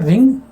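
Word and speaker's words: wring: रिंग, इसे बोलते हैं रिंग रंग रंग, डब्ल्यू साइलेंट है।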